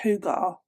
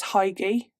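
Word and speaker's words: hygge: Have you heard of, I think it's pronounced Hugar, but it's Danish, but I read the word as Heige.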